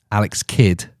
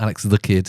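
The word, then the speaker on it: Alex Kidd: right unlike you heathens Alex kid it's not Alex the kid yeah people say that don't they it's his surname it's not a a little kid yeah not an adjective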